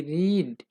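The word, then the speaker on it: read: এই জিনিসটা আপনাকে মনে রাখতে হবে, বানানটা কিন্তু একই থাকবে কিন্তু উচ্চারণটা একটু চেঞ্জ হবে।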